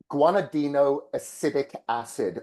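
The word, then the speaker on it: guanidinoacetic acid: How do you pronounce that? Yeah, guanidino acidic acid.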